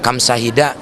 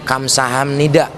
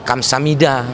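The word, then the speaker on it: 감사합니다: Kayak kamsahida sebetulnya itu salah. Itu cuman saya komediin kan. Sebetulnya kamsaheo atau enggak bisa kamsahamnida atau disingkat kamsamida.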